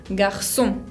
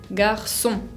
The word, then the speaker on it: garçon: Esa C con cedilla es muy fácil de pronunciar, aunque sea nueva, porque se pronuncia exactamente como una S, como la S del castellano, el sonido C. Por ejemplo, garçon, garçon.